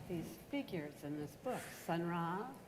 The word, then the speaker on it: Sun Ra: But you've got these figures in this book, Sun Ra. Yeah. Am I saying it correctly? Yeah, Sun Ra.